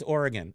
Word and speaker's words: Oregon: in Oregon in Oregon people don't know how to pronounce that it's Oregon if you're from the West Coast it's Oregon um and then we